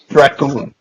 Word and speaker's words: Dragoon: Dracoon. Dragoon. Yep. Kind of rhymes with raccoon.